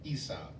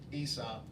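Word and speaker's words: Aesop: it involves a gentleman by the name of ESOP and everybody thinks thinks the spell e is actually spelled with a capital a e s o p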